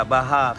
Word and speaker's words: Baja: Jadi ee tidak bagus kalau untuk dipakai untuk nih J bacanya H ya baja Baha Champions.